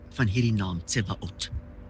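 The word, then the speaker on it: Sabaot: Kom ons begin by die uitspraak van hierdie naam Tsebaot. Die spelling is S-A-B-A-O-T. Maar die S aan die begin word uitgespreek as 'n ts klank.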